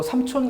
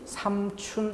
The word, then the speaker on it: 삼촌: 제시를 해본 거에요 또 삼촌 같은 경우는 현실적으로 개 복음 다름이 삼춘 이라고 발음되는 경우가 훨씬 많다 는 것이에요 삼촌의 다름이 삼춘 이 올 파이 걸리게 하는 게 아니라 양쪽으로 많은 사람들이 그렇게 부른다 다수가 이렇게 부름에도 불구하고 표기는 삼촌을 맞는 것으로 인정한다 왜냐하면 본뜨기 살아있다 어원